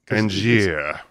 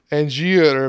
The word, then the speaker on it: Angier: He introduces himself as Angie, or How would you pronounce his name? Angier. Angier, but there's several.